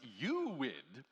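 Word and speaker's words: UUID: Not to be confused with the universally unique ID, which is pronounced UWID.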